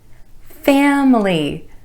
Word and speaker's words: family: mispronounced by non-native speakers each of the words we're going to look at today is pronounced with fewer syllables than it looks like it should have so the typical pronunciation